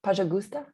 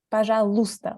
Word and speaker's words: Пожалуйста: In Пожалуйста. Пожалуйста. Pajagusta? Пожалуйста. Л. Pajalusta. Pajalusta. Pajalusta.